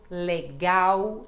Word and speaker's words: legal: vamos praticando Brasil Brasil legal legal Lembrando que isto é uma pronúncia do Brasil em Portugal não eles não fazem este som de u com a letra L tá bom m a